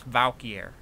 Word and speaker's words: valky: know my profile's name it's valker Valk all right kind of like Valkyrie anyway let's see right